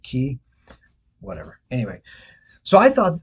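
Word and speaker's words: Cay: own private Island Ocean K which I think I say k but I think is they they pronounce it key whatever anyway so I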